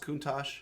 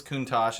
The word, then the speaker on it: Countach: suppose than a thanks at close is it pronounced Countach yeah I like the car yeah what's I've never heard of this Kunta Lamborghini Countach the oh the car that everyone